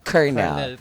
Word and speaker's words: colonel: ah sa spelling non colonel pero ah pronounce niyan dapat kernel yan o 'di